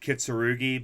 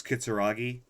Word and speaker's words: Kitsuragi: just realized it i i always said kitsurugi but it's kitsuragi you realize he's waiting